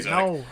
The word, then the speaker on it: Zodic: Okay, yeah, it was Zodic. I accidentally mispronounced it as Zordic.